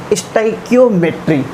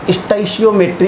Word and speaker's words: stoichiometry: और बच्चों, आज का हमारा टॉपिक है स्टाइकियोमेट्री। ठीक है, कुछ लोग इसको स्टाइशियोमेट्री भी कहते हैं, तो आप जैसे चाहो वैसे इसको प्रोनाउंस कर सकते हो।